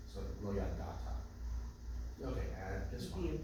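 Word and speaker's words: לא ידעת: But the ayin is silent entirely because it's a silent letter with a silent vowel. So lo yadata.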